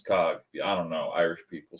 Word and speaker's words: Coughlin: at Coughlin 93 spelled like you see down here on the screen like the word cough l-i-n but pronounce Cog I don't know Irish